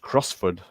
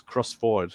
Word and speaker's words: Crossford: used to think that crossford was would be pronounced crossford you know because it sounds Scottish I live